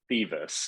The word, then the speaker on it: Thiewes: We've already- It's pronounced Thiewes. It's German, at least we're Ah, pretty sure. We were going with Oh. Thiewes.